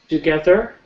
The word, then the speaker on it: together: Okay, if we do it really fast and we get a little lazy, it might be a D sound you're hearing. Together. But to pronounce it properly, together.